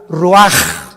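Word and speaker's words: רוח: Y exhaló Isaac el Roach, así como suena. Se pronuncia la CH en hebreo como J. Roaj, se le halló y se traduce espíritu.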